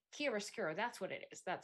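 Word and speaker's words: chiaroscuro: a very cool illuminating effect to it um kisara russo i i know that i messed up pronouncing that um oh it's kia skiro that's what it is that's what it is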